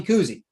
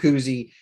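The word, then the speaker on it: Kuhse: their best player tommy cousy it's spelled like k-u-h-s-e somehow he he got it just loved to say it like it's bob kuzie he's their point guard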